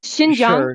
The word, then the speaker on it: Xinjiang: is a vocational school and it's xinjiang if you're gonna say the name please say it correctly okay yeah no there's